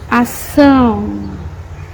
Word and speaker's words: ação: For example, the word ação, ação, action. The cedilla sound is S.